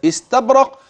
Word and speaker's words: استبرق: سأبين النون ثم آتي بالهمز الذي قطع النون عن السين بعد ذلك، فأنطق من استبرق. إذن هكذا يكون نطق لهذه النون واضحة جلية، والشرط الحرف الذي بعد النون. انظر إليه جيدا، إنه الهمز استب، والباء تقلقل والقاف عند الوقف تقلقل، استبرق.